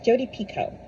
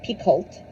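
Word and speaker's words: Jodi Picoult: Um, by the way, it's Jodie Pico, not Picult. She actually posted a Tik Tok where she's like saying it slowly for people who still don't understand. It's spelled with an L, but you don't say the L or the T. It's pico, like pico deayo, as she says.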